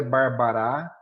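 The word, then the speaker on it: Barbara: A leitura aí é barbará, celarent, darii, ferió.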